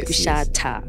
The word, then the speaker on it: Kushatha: It's Kushatha. Yes. Kushatha. Yeah, there's a TH at the end.